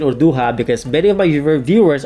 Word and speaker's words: Urduja: female Warrior Queen called urduha now it's important to note that urduha is the Filipino pronunciation of her name and this is not